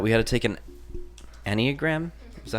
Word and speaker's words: Enneagram: Me, Lauren, Millie, and Jackson had for class was that we had to take an Enneagram. Is that how you say it? Yes. Enneagram.